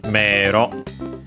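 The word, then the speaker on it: 迷路: Last but not least, we have meiro. Actually, more often than not pronounced as mero, because e is usually pronounced as long e. Some still pronounce it as a. But yeah, more often mero.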